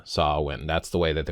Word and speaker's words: Samhain: So they're talking about sah-win, and it says pronounced here, and you'll see the phonic way that they spell it, SOW-WIN. So sah-win, sah-win. That's the way that they would pronounce it, not Samhain.